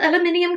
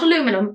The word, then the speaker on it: aluminium: in a Sleek refillable aluminium canister by the way that's how we pronounce it not aluminum aluminium canister this Exquisite design